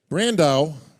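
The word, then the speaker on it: Brandão: or uh observation as it would be brandau rhymes with Sandow a lot of people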